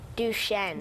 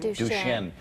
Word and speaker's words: Duchenne: Duchenne. Duchenne.